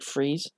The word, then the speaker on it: Fries: good backstory his his his actual name is victor freeze it's spelt like fries so it's like a german name i believe i see